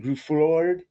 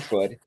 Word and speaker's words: Gruffudd: I meant the Ian Groof. How do you say his name? Ian Gruffudd. You got it. Gruffudd.